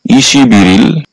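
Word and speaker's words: 이십일일: ইল অর্থ হচ্ছে তারিখ আর এই শব্দটার সঠিক উচ্চারণ হবে ইশিবিরিল 21 তারিখ ইশিবিল 22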